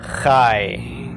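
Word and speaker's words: חַי: And it sounds like we're pronouncing this as a long I, but in fact it's called a diphthong. It's the combination of the short A with the Y of the Yod. Pronounced really quickly, I-E.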